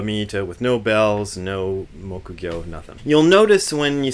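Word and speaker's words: 木魚: People call this a mukugyo here in America, but the proper Japanese pronunciation is mokugyo.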